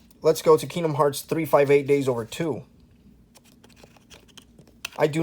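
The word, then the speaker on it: 358/2 Days: So there's 358 Days Over 2. And yes, that is how you pronounce the title, people. 358 Days Over 2. Not 358 divided by 2. Not 358 over 2.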